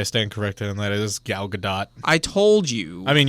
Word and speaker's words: Gal Gadot: to say I stand corrected and that is gal gadot I told you I mean you're also talking to the guy who used to pronounce it vin de sel not Vin Diesel